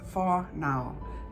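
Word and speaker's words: whānau: day in Mai is far now pronounced for now means family but it goes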